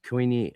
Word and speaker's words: Koine: Koine Greek, that it maybe in Greek it's kine or koine, I don't know. Right, but in English, it's koine. That's how that word is said in English.